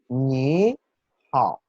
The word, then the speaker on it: 你好: pinyin que dice que cuando hay dos palabras de tercer tono seguidas, la primera sílaba cambia al segundo tono. Eso quiere decir que la primera sílaba va a pronunciarse ligeramente más aguda, más alta que la segunda.